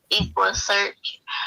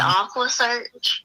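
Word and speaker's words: EquuSearch: And then he was like, after that, it was like, I'm so tired of, he mispronounced Equa Search, and he said Aqua Search.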